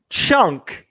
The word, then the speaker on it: Tschunk: Chunk is spelled, it's kind of like tsunami. TSCHUNK. Chunk.